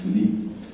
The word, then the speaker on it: Philippe: His name is Philippe, in French accent.